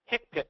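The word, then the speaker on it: HCPCS: for that you always use the hick pics hipic so we that's how it's pronounced hipic yeah and that's not a rosis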